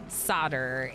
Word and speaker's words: solder: So, it's pronounced solder in the United States, but I don't think I've seen it written very much. And I was pron I keep pronouncing it solder.